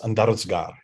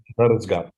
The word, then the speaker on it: Andarzgar: The name, pronunciation is Andarzgar. Oh, thank you very much. Okay. Andarzgar. Yeah. So it's close enough.